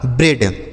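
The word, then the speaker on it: bread: इ ए का उच्चारण ए की मात्रा और डी से हो गया ड। यह लिखा गया आपका ब्रेड।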